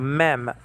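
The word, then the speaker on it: מם: And so that's a mem in Hebrew, okay? And like in the word Moshe, you see that style of an M there. It's called mem, M-E-M.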